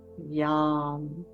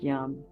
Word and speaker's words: Yam: And the Sanskrit name for this is Yam. Yam. I like to think of it as yum. They actually even pronounce it more like yum.